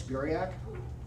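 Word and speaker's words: Buriak: Steve's um just go to like look up Alex Burak.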